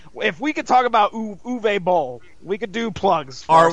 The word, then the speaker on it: Uwe Boll: Can we get some Uwe Boll jewelry going? You work on saying his name, and then we'll talk about it, all right? Seriously, you're mispronouncing it. Bowl. Uwe Boll. Uwe. All right, can you please make some duvet bowls?